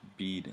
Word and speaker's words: Bead: now for karen uh my name pronounced bead like around around the neck okay bead okay great